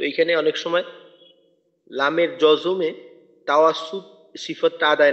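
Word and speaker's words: جوع: আতআমাহুম মিন জু', আর শেষে আইনটার উচ্চারণটা একটু চালু রেখে করা, আওয়াজটা যেন বন্ধ হয়ে না যায়। আর আইনের উচ্চারণটা 3 আলিফ টানার পর টানের শেষে আসবে। টানের শেষ হওয়ার পরিপূর্ণ যতটুকু টানবো, এই টানটা পরিপূর্ণ শেষ হওয়ার পর আইনের উচ্চারণটা হবে, অর্থাৎ জু, আর আইনের আওয়াজটা একটুক্ষণ চালু রাখবো।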